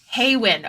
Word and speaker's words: Haywin: Is it Haywin? Hawin? Hay or Ha? Hay or Ha? Haywin.